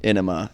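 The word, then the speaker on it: Ænema: Enema is solidified at, Do you Well, say and that's- Enema or Anima? I say Enema. It's enema. It's Anima. Danny Carey pronounces it Anima.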